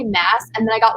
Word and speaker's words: Maas: some comments on TikTok saying like it's Moss, like you're not saying it right, and I'm like, no, I'm like very sure that it's Mass. In interviews and stuff, that's how she pronounces her name is Maas.